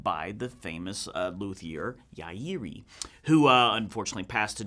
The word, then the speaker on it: Yairi: yairi wy1ts now confession I've been saying Yari for pretty much my whole entire career but apparently that is not it so I'm going to keep working on how to really pronounce that but anyway these are